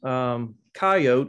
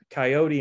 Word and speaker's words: coyote: north america the coyote it's often pronounced coyote in the western u.s and coyote in other areas so i may interchange